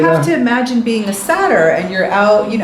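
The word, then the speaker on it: Satyr: sure i'm getting the you're not saying saturn like the the god or the planet saturn got it he's a sleeping sadder and i've always wanted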